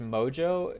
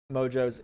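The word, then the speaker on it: Mongeau: I think it's Mojo is how you say her name.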